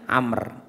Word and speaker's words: Amr: bin Khattab radhiallahu anu Jadi kalau tulisannya Ain mim ro itu bacanya Umar tapi kalau setelah Ain mim ro ada wunya itu bacanya Amr dari sahabat Umar berkata